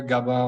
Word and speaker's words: Gabin: good yeah it's perfect it's a French name so it might not always be easy to pronounce but yeah it's good that's good yeah to be honest I checked the pronunciation out before starting that's why I got it right otherwise maybe I would have said that gabin but anyway uh well